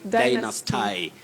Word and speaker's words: dynasty: Dynasty. Some may even say dynasty before they are told which way to pronounce such a word. We say dynasty, dynasty.